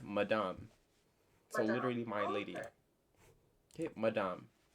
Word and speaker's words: madame: say matt in english we say madam but in french it's madame so literally my lady